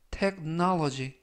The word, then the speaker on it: technology: 되겠습니다 2번 표현은 technology technology technology라고 발음하시면 되겠고요 이때 강세는 알파벳 5 가운데 부분에 있는 알파벳 5의 강세가 있습니다 그래서 라고 발음하시면 되겠고요